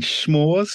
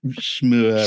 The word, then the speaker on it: s'more: poking fun at me because I pronounced it s'mure. S'mure. S'mure, yeah. But yes. And you're like, no, how do you pronounce it? S'more.